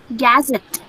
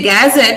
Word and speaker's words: gazette: Gazette. Not gazette. Where is the stress? Where is the stress? When you say gazette, you're stressing g. But here, this syllable should be stressed. So it should be gazette.